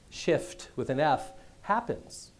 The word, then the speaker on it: Shift Happens: Shift with an F, happens.